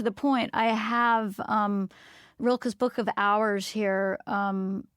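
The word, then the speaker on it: Rilke: to and you can help me with pronunciation rilka am I saying that right you're the expert you have got Reiner Maria rilka in Flora and Ulysses yes yes yes um and more to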